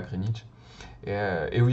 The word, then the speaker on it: Greenwich: Ben là, il s'agit de l'observatoire de Greenwich. Parfois, les gens qui ne connaissent pas prononcent Greenwich, mais en fait, les Londoniens disent Greenwich.